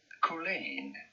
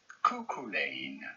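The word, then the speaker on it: Cuchulain: We are looking at how to pronounce couain. Coolain. Coolain.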